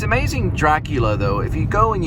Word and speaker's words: Dracula: So he doesn't pronounce Dracula, he pronounces it Dracular.